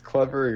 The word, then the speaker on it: Clevr: Know how to pronounce it. It's Clever.